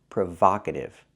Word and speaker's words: provocative: the word is pronounced provocative I cannot use a long o like no and go I need the short a like hot and stop Prova provocative it was a provocative